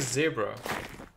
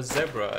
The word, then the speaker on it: zebra: So they checked each other, I guess, and now the cow is a zebra. Or zebra, as you should pronounce it.